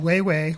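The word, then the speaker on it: Weiwei: It's I, which is A-I, that's his first name, and then Wei Wei, which is W-E-I, W-E-I, and that's all it is. So it's I Wei Wei, and then Never Sorry.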